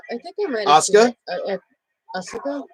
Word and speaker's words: Asuka: Wait, Asuka, I think I might have Asuka? Asuka? Asuka, yeah, that's how you say it.